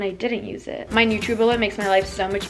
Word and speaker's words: NutriBullet: And this video is actually sponsored by NutriBullet. Okay, wait, hold up. I literally said NutriBullet this whole video and then later realized that it's pronounced NutriBullet. I'm just really foreign, so yeah, that's why.